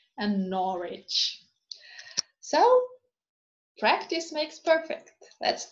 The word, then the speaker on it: Norwich: answer uh sword who hero it is not pronounced when it is followed by ah as in wrist right wrong and greenwich and norwich so practice makes perfect let's do it